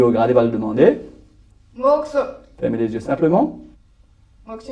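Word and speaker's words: mokuso: Et ça, on dit moxo. Ça s'écrit M-O-K-U-S-O, moxo.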